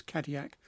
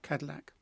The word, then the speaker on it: Cadillac: of vintage caddy acts notice the pronunciation in French is cardiac not Cadillac shuttle of arm our AME